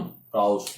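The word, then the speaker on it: Proust: प्राउस्ट बोलते हैं, S silent रहता है, ठीक, राइट।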